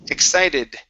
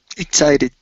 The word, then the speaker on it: excited: is the word excited make sure to pronounce the Ed ending excited excited okay all right we also